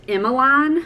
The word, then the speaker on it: Emmeline: It's kind of spelled like Emma Lynn. And again, you can kind of spell it however you want to. I like the traditional like Emmeline, although some people have told me that it's pronounced Emmeline when you spell it that way.